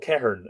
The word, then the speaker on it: Ceithern: And so that warrior called Cehern, who appears in the Táin, is spelt the same way.